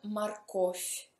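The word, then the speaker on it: морковь: Qui si scrive morcov con V, ma si pronuncia morковь con F.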